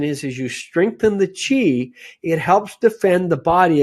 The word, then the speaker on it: Qi: They talk about Qi, that's spelled QI.